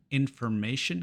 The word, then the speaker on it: information: Unas como information, information, que pronunciamos shin, y otras como version, version, que pronunciamos jin.